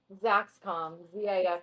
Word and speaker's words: Zaxcom: Say it again and like spell it, please. Zaxcom, com. ZAXCOM.